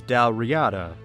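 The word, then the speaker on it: Dál Riata: The name is taken from an actual GIC kingdom, and Wikipedia's pronunciation guide says Dal Riyata for what that's worth, but I said there were some bright spots.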